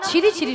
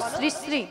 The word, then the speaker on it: শ্রী শ্রী: আরে মাসি, ওনার নাম ছিরি ছিরি নয়, হ্যাঁ। বলো শ্রী শ্রী।